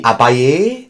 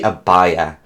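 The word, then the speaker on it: Abaia: me a long time to learn how to pronounce within the spelling a b a i a i was like the abbae the abba because this is a like knights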